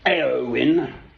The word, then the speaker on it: Éowyn: Called, I would pronounce it Éowyn, who was a woman, it's a brother Éomer, I think, in Lord of the Rings, no less.